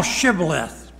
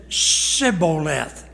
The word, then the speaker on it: shibboleth: they said to abram say now shibboleth and he said siboleth sai s-i-b-b it had the h is not there siboleth versus shibboleth now watch this for he